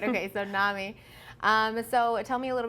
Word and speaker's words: NAMI: And it's NAMI. Yes. Which is how I thought you'd pronounce it, but you never know.